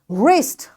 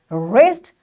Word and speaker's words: wrist: wrist you know wrist this wrist so this wrist again W is followed by R that's why we will say wrist and this W is silent wrestling it's a game